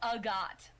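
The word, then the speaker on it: Agathe: Pronounced Agot. Like A-H-G-O-T. Agot. I want. It's like Agatha, but fancy.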